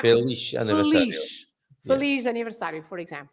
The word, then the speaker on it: feliz: How do you pronounce the Z at the end? Feliz, like a sh sound. Shh, that's Yeah, right. yeah. Shh. The sound is not z, but the sound is sh, right?